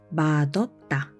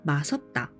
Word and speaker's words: 맛없다: 맛없다 맛없다 맛없어요 맛없어요 the word 맛없다 ches with the do sound and pronounce AS 맛없다 make Sure not to say 섭다 멀다 멀다 멀어요 멀어요